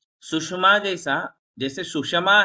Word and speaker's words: सुषमा: सुषमा में यदि आप सुषमा पढ़ोगे तो षटकोण का श आधा हो जाएगा, इसको पूरा पढ़ना है।